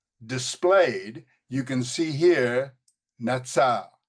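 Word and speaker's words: נצר: And here we have, again, notice the pronunciation. We have the T here, Natsar, Natsar, a primitive root.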